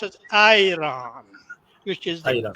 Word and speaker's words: Iran: They pronounce it Iran, which is the Aira.